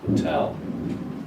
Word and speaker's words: hotel: after it is the strong one so you say hotel not portal it's Hotel it shows you here here